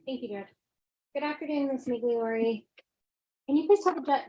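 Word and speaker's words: Migliore: name for the record my name is migliori spelled thank you spell ladder yes please okay is spelled and mcleori is spelled m-i-g-l-i-o-r-e right State thank you good afternoon Miss migliori can you please talk about the jury how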